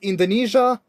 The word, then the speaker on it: Indonesia: In the word Indonesia and Asia, it's pronounced as zh.